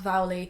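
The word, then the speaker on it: Vuelie: And the Vowley, which I think is pronounced right, I asked my friend Caroline, who's from Norway, and she said it's pronounced Vowley.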